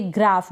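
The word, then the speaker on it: graph: इसको हम पढ़ेंगे ग्राफ। GR को ग्र। क्या पढ़ रहे हैं, GR को ग्र। और आ जो है ये ए है ना, इसका आ उच्चारण हो रहा है, ग्राफ।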